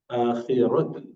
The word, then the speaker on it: الآخرة: Remember, ra would be always pronounced with full mouth, rounded mouth. if it has fatha or dhamma. آخرة آخرة وإنه في الآخرة لمن الصالحين.